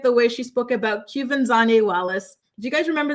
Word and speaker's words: Quvenzhané: She was the youngest nominee, and for some reason, Chrissy, reporters were having a difficult time pronouncing her name for whatever reason. It's Quvenzhané.